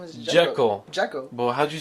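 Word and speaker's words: Džeko: Sheko's doing crazy good right now. That is Dzeko. Oh, Dzeko. Yo, you got your braces off. You should be talking perfectly fine. It's DZ. His last name is Dzeko.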